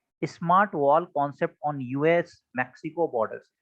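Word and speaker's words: Mexico: इसको मैक्सिको लिखा जाता है बट इसका करेक्ट प्रोनाउंसिएशन जो होता है वो मेक्सिको होता है।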